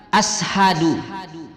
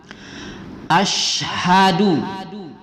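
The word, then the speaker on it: أشهد: Kemudian kedua pada kalimat asyhadu, ya, shim tebal dia tafasyi. Masih ada kita dengar membaca ashadu, malah masih ada kita dengar asyhadu, ya. Yang tepatnya adalah asyhadu, ya.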